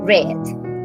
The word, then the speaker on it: read: regular we have read we have readed so the pronunciation change red we have play played